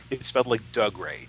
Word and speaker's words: Dougray: It's spelled like Dougray, Dougray, but he's Scottish, so it's Dougray Scott.